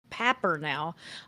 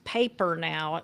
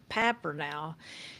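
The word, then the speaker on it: Papernow: She's a world famous researcher on blended families, and her name is Patricia Papper now, although it's paper now. It's what it looks like on, paper now, but it's pronounced Papper now.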